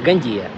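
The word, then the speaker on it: Gandía: Мы приехали замечательный город гандия и гандия гандия вот там даже ударение есть хочу сказать Здесь очень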